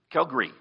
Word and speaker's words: Calgary: Now, I've also been told from people, the Calgarians here, all right, that it's actually pronounced Calgary. The second day is redundant.